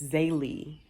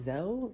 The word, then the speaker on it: Zaylee: I think when, and I've been saying her name wrong, y'all, it's Zaylee. It's Zaylee. So I wonder if Z-E-L should have been like Zay instead of Zell.